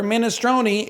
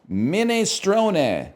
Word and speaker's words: minestrone: Yep, same for minestrone. It's pronounced minestrone, not minestrone or minestrone. Okay, I've decided who gives a fuck at all?